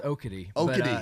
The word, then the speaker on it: Okatee: Pronounced Okatee. Okatee in the Carolina way. In the Carolina, Okatee.